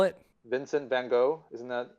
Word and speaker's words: van Gogh: both wrong whatever it's pronounced like you're saying hoof like van hoof don't pronounce it oh